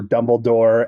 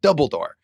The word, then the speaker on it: Dumbledore: like throwaway jokes for Dumbledore and Gandalf, and they're just great throwaway jokes. They are. Yeah. I love the the Vuvius the wizard can't pronounce Dumbledore. He keeps saying Dumbledore, right? Double door.